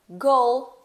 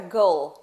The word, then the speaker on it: goal: Então eu falo goal. O L, ele tá lá, a gente é pronunciado, porque a gente coloca a língua lá atrás do dente, né? Lá em cima, então fica goal.